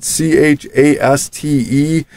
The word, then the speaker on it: Chaste: And Stone, which is part of a group of ninjas that are led by Stick, called the Chast, I believe is how you pronounce it, Chaste.